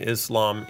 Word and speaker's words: Islam: I was corrected by our friend Solomon, who said I would keep pronouncing Islam wrong. And you say Islam. Islam. It's Islam. Islam. Islam. Islam. Islam. Not ish or idh. It's Islam. Oh, come on, though. On this side of the pond. Islam. Like Islamabad. Like Islamophobia, right? So it's just a matter of emphasis.